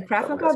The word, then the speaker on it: Krav Maga: Krav Maga. Am I pronouncing that right? Mm-hmm. Yes, he's a Krav Maga guru, and currently he's got a very popular